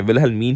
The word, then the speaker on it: Wilhelmine: Okay, so पहले तो इसकी pronunciation देखते हैं. Wilhelmine ही है इसकी pronunciation correct because Jasmine, Wilhelmine, like these all.